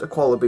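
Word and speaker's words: Aqualibi: koala be is pronounced a koala be water parks that's the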